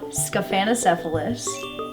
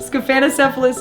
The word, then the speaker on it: Scaphanocephalus: The parasite is called Scaphanocephalus. And how you spell that is S-C-A-P-H-A-N.